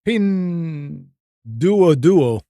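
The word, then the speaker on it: Pinduoduo: heard of uh and the best way i can pronounce this is pin do a duo it's p-i-n-d-u-o-d-u-o oh pin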